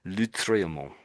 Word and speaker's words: Lautréamont: Um, and in this particular style, you really wouldn't say the T.